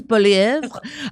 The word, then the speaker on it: Poilievre: How do I pronounce it? Poilievre. I was so close. Poilievre.